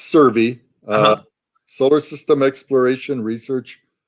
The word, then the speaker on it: SSERVI: kind of like a play yeah yeah it's pronounced survey uh solar system exploration research virtual institute and